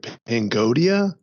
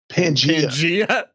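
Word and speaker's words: Pangaea: Can you like bring up a picture of Pangodia? Is that possible? Like, where what? did it go? Pangodia. Pangea? Isn't that Pangea? Pangea? Some don't know Pangea. how to pronounce. I was like, what is Pangodia?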